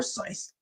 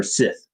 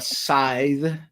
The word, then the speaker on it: scythe: But instead, he got a war scythe or Sith. I never know how to pronounce that word. A scythe. Yeah, that s c y t. Yes, that e at the end gives you the strong i.